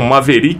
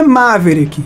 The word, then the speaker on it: Maverick: até tava conversando né Juninho a as pessoas pronunciam maveri mas a pronúncia correta seria maveri é olha duas coisas O correto é maveric né é uma é um nome americano então